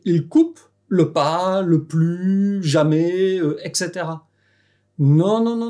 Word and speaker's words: plus: le “ne”, parce que dans la négation tu ne prononces pas le /s/ final, tu dis : “plu” Et c'est vraiment important